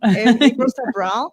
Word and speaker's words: April Sabral: We have an expert, April Sabral. Did I pronounce it right? April You Sabral? did. Yeah, I like the way you did it, April Sabral. April Sabral.